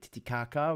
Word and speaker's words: Titicaca: there you go it's bolivia la paz like titicaca which uh splits split down the middle between